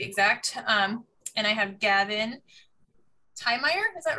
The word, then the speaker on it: Tiemeyer: And I have Gavin Tiemeyer, is that right? I should have practiced your name. Of course. It sounds like that phonetically, I guess it's Tiemeyer. Tiemeyer, see? Yeah, so it's like T-E.